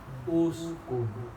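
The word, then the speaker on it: اسكن: Kalau harokatnya domah berarti cara bacanya domah. Uskun.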